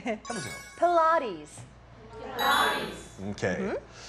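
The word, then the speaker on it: Pilates: 강세가 두 번째 음절에 있고. 필라테스가 아니라 플라티즈였죠?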